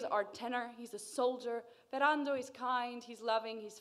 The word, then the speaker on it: Ferrando: randall pronounced fair randolph kind of an open o at the end give it a go